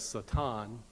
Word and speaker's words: Satan: The real way to pronounce that is Satan.